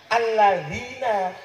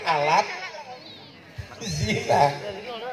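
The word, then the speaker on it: الذين: Alladzina, bukan alat zina. Tulisannya sama, bacanya beda.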